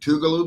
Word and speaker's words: Tougaloo: Have you have y'all ever played Tougaloo before? Am I even saying it correctly? Um, you're saying it right.